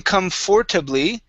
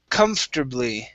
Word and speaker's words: comfortably: comfortably all right so instead of saying comfortably okay we're gonna go to here comf we're gonna skip right over the r the or and go to turb lee comfortably comfortably one more time